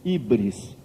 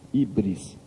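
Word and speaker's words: hybris: esse pecado eles davam o nome grego de ibris se escreve H Y B r e s ibris O que que ibre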